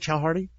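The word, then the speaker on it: Chaudhary: Is that how you say it, Chowdhury?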